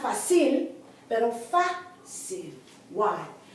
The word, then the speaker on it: fácil: Not fácil, pero fácil. Why? Because here the accent is on the first syllable. It should be on the last syllable because it ends in a consonant.